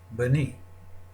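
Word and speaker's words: בני: If we put the I vowel, the shirek, underneath the nun, we can now pronounce the word as bani, my son.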